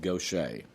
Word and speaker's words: Gaucher: Okay, and she pronounces it Gaucher.